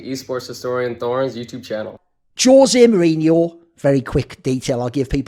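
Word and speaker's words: José: by the way, is in a Spanish country, someone whose name is like his would be Jose, like with an H pronunciation. If you're from Portugal or Brazil, you say Jose, hence Jose Aldo in MMA, as opposed to Jose Aldo if he'd been Mexican or something similar.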